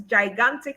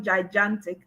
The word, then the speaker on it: gigantic: No, please note this is gigantic and not gigantic. I think it's often mispronounced as gigantic.